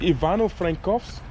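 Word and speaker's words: Ivano-Frankivsk: name of this city excuse me it's Yvonne Oh Frank coughs okay yeah a barn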